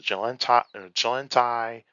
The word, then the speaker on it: Chilantai: English, probably was like, I'm going to spell it with a CH instead of a J, because I know some people are going to sound it with a J instead of like how we pronounce it.